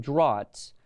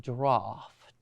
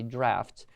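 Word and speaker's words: draughts: is uh draft d-r-a-u-g-h-d-s you might pronounce it drots but the word in English pronounced draft and in American we might say drafts and actually just means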